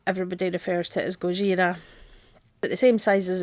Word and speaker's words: Gojira: just for fun and that is Gojira you might know that goira is the Japanese name for Godzilla so that's that's the Japanese pronunciation of Godzilla and it is basically